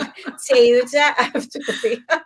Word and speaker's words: Teuta Avdyli: TEUTA AVDYLI.